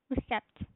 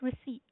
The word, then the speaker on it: receipt: We pronounce most people say recept. Can you give me the recept like that? But the it is pronounced receipt.